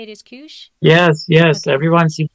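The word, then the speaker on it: Keush: So Kush is short for, the winemaker's name is Kush Geryan. Oh. That's his last. And so that's the first syllable of his last name.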